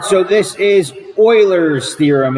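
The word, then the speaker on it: Euler: is a prism all right so this is Oilers theorem it's not pronounced uler it's a it's pronounced Oiler Oilers theorem the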